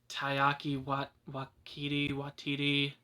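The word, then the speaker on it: Taika Waititi: Like, it's kind of a big thing, and I felt that in Thor Ragnarok, the director, I can never pronounce his name right, but it's Taiki Watiti, not Wat, whatever.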